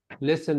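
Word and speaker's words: listen: أه اللام اللي سايلنت برضه يو شود أه ليسن الـ الـ تي الـ تي سايلنت برضه الـ تي مش هنطقها حظك وحش كله سايلنت كده كيرفولي يلا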